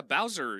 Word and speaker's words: Bowser: Rhymes with Cowers. Oh yeah, Bowser.